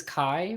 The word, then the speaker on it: Chi: Was it like Greek X is Chi, right? That's how you Mhm. pronounce it, Chi. So maybe he's just Kai.